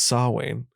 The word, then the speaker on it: Samhain: isn't about sacrifices samhain by the way it's pronounced saw wayne oh sam mayne is